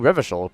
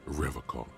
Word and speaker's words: Revachol: He's not even saying Revachol properly. He pronounces Revacol with a hard...